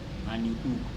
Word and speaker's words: Van Leeuwenhoek: So if you cannot pronounce it, Van, V-A-N, then you L-E-E-U-W-E-N-H-O-C-K. Van Leeuwenhoek.